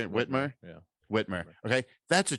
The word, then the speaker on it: Whitmer: blah but the fbi plotted to kidnap governor whitner uh how do you say it whitmer yeah whitmer okay that's a true story it's